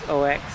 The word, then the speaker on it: OEX: It's made by OEX, which I pronounce it as OX.